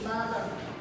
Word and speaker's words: butter: Misalnya dalam bahasa Inggris, dalam kata butter seringkali diucapkan dengan T yang terdengar seperti D, butter. Seperti pada dialek Amerika. Hal ini disebabkan lenisi pada bunyi T karena berada di antara dua vokal sehingga menghasilkan bunyi D.